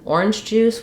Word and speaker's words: orange juice: substance orange juice um so orange counts as a noun here and this is a compound noun where we stress the first of two nouns uh versus if I